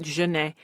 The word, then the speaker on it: Janette: middle name is Jan it's spelled Janette but everyone pronounces it Jana my mom was telling